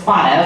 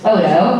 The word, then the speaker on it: Spoto: I thought it was Spoto, but I guess it's Spoto, according to him. I'll let him pronounce his last name.